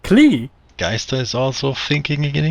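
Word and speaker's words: Klee: german-inspired oh right and in german a character named clee you would pronounce it clay ah that's correct and geister is german but pronounces it clee geister is also thinking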